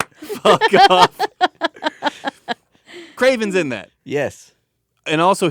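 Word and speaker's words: Kraven: that series it it revolved around Craven it's pronounced Craven on off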